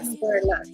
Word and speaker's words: Edinburgh: Edinburgh. Well done. Edinburgh. Edinburgh. It's one of those words that's spelled differently to how you say it. So, it's Edinburgh last.